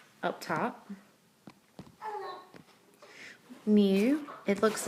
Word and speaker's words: mu: Mu, it looks like like a fancy U, pronounced mu.